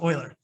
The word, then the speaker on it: Euler: is it euler or euler i know it's pronounced euler it's spelled euler but it's pronounced euler um